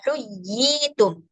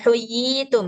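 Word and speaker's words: حُيِّيتُم: Huyyitum bukan huyitum ya. Agak ditekan sedikit.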